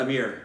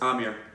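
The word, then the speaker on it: Aamir: It's not Amir. It's Amir. The accentuation is on the first syllable.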